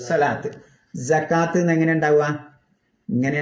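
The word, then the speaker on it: صلاة: അപ്പോഴാണ് നമ്മൾ സ്വലാത്ത്, സകാത്ത് ഒക്കെ എങ്ങനെ ഓതുക? സ്വലാത്ത് ഇങ്ങനെ ഉണ്ടാവുക, സ്വലവാത്ത് എന്നാ ഉണ്ടാവുക. പക്ഷെ നമ്മൾ ഉച്ചരിക്കേണ്ടത് സ്വലാത്ത്.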